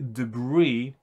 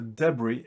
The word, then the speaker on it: debris: this as well um it can be pronounced with a stress on the first or the last syllable but um if you